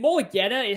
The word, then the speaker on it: Mulugheta: And to your point of how great of an agent, is it Mulugheta? How do you pronounce it?